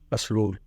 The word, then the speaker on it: پسرور: لیکن بہرحال تلفظ کے ساتھ ساتھ اس کے اسپیلنگ جو ہے ان کو بھی صحیح کرنا چاہیے۔ PASRUR، پسرور۔ ویسے اس کا نام پرسرور ہے، پرسرور پسرور